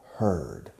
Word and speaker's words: heard: Now the past tense is heard. The pronunciation changes. And it's like ella for her with a D at the end.